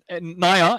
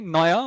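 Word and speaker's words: NAIA: How do you pronounce it? Naya. N-A-I-A. Naya.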